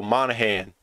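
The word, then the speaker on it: Monaghan: Because it's M-O-N-A, wait, M-O-N-A-G-H-A-N. So the G sign, so Monahan.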